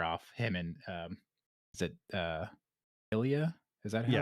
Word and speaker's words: Ilya: Him and is it Ilya?